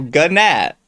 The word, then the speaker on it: gnat: Gnat. Gnat. It's spelled how it sounds. Gynaat. Gnat. Guinea. No, not Swedish something. The teeth of it. No, it's gnat. It's written exactly as it said.